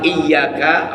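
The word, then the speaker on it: إياك: Ya, iyyaka, lafaz iyyaka, awas, setelah huruf alif ada huruf ya. Ya-nya itu ada tanda tasdid, ya.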